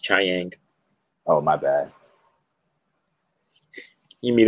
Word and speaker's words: Chiang: Yeah, I like the artist, Cliff Chang. Or Cliff Chang. I don't remember. I don't know if that's how you pronounce it. It's pronounced Chiang.